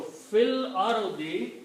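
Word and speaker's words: في الأرض: So by joining these two, this alif has to sacrifice itself. This has to go away. But we still leave there, we do not pronounce. That's the reason we change the sign of this to a small swat. Means it is written there, not pronounced anymore.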